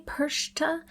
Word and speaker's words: Perchta: The name Persa Persa. There's like it's like a pear a I persa. Uh at least in my pronunciation guide, that's what it says.